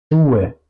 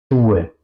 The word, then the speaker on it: Schuhe: La SCH se pronuncia siempre juntos en alemán y se pronuncia como sh. Si quiero callar a una persona, sh, así se pronuncia. Como por ejemplo, Schuhe, Fisch, waschen, waschen, lavar, Fisch, es, Schuhe, zapatos.